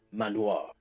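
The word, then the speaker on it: Man-o-War: there with the words man -o -war written on it. And you look man o' war, but manoir is how they pronounce it.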